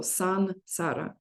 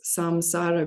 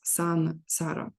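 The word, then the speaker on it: संसार: in Sanskrit uh uh before uh s it should be always n so son Sara uh and people who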